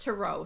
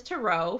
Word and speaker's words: tarot: tarot cards okay so tarot that it's really pronounced to row so well there you there's your first clue that i know just enough to be in trouble okay it's totally okay i love to say tarot cards too because like that's just the way